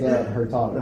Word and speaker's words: Hurtado: Did I pronounce it correctly? It's Hurtado.